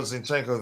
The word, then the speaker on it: Zinchenko: zenchenko here I hope I don't spell his name wrong um zinenko uh there you go zinchenko there okay then we got two sixes uh